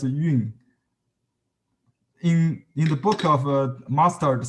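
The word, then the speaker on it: 韵: They pronounced as yun.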